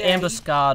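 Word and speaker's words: ambuscade: real word yeah yeah they might pronounce it ambus scad over there I I've never heard of it so it's spelled like facade a m bu u s c a d e no no no never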